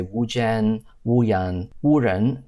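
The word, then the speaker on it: wu jen: So this implies that the J in yen is actually pronounced more like a Y, meaning that it would be pronounced like Wu Yan, which means something like a magic person or a cursed person. And in Mandarin, it would be pronounced Wu Ren.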